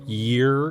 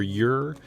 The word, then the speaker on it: Yr: for especially his album i pronounce it year or year yr look it up steve tibbetts your